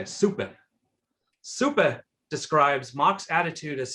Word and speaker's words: Suppe: Mark's papers and in Soup, is that how his name is pronounced, or Sup? Anyway, so Soup or Sup describes Mach's attitude as such. It's super. It's German. Okay, Suppe.